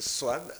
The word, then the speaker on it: Swan: Mulumba Makongo, vous êtes Swan. Mais en réalité, on devrait le prononcer avec un N. Ça se prononce Swan.